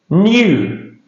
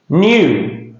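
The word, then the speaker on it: knew: New. No. K is silent of course. New.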